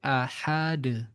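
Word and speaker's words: أحد: Kalau tanpa tasdid ahad.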